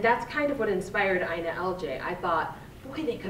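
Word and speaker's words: INALJ: So I pronounce it Ina LJ. Most people say I-N-A-L-J or the whole thing. I just call it Ina LJ now.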